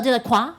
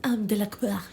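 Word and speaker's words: Delacour: Not fleur de la croix. Fleur de quoi. Guys, I think it's de la cour.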